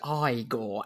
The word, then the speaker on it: Igor: It's pronounced Igor, actually.